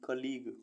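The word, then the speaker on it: colleague: ओ एल एल ई ए जी यू ई कलीग कलीग मीस साथी पी एल ए जी यू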